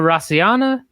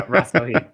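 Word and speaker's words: Rasohyna: we've got Seo Hee Ham, Stamp Fairtex, Alyona Rassohyna, Alyse Anderson, Itsuki Hirata, Ritu Phogat, and Denice Zamboanga. Hopefully didn't butcher that too much. The one you only really butchered was Alyona Rassohyna. Yes. Oh, yeah. Rassohyna.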